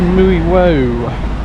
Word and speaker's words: Mui Wo: for a hike to mui woo or that's the English version of how you pronounce it Wendy has got the